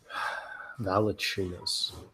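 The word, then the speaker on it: Valančiūnas: Valanciunas. I'm so glad you pronounced it right.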